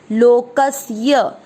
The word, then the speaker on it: लोकस्य: कुछ लोग इस शब्द को लोकस्य बोलते हैं, श नहीं है ये, श शंकर वाला नहीं, स संतों वाला है। अगर आपको उच्चारण करने में परेशानी आती है तो आप क के साथ आधा स पढ़ दीजिए, लोकस्य, और नहीं तो लोकस्य।